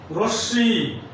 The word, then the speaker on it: রশ্মি: একইভাবে ভস্য, বিস্ময়, পদ্ম, রশ্মি, দৃশ্য ইত্যাদি শব্দের ময়ের উচ্চারণ হবে না।